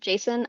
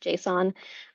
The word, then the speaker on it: JSON: up um some people say it's it's it's pronounced Jason I have never heard it pronounced Jason I've always heard it pronounced Json um which stands for JavaScript object notation so